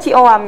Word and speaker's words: C.OAM: Oke, itu Cioam, bacanya sebenarnya Cioam gitu Mbak. Cioam.